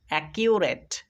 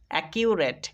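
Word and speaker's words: accurate: এসি এ পড়তে হবে অনেকে হয়তো এসি এক পড়ে দেবে কিন্তু এসি এক নয় এখানে এসি এ সি ইউ কিউ কিউ আর এ টি ই রেট রেট একিউরেট একিউরেট একটু ভালোভাবে লক্ষ্য করো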